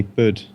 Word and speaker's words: Budd: Well, a lot of people in England call me Bud. Bud. B-U-D-D, because I was a But some people spell it B-U-D, Bud.